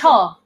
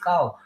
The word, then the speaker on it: Kyaw: How do you pronounce it? Cho. Cho. Okay, I always Yes. call it cow.